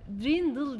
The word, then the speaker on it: Dirndl: Dirndl diye yazılıyor ama Dirndl diye okunuyor.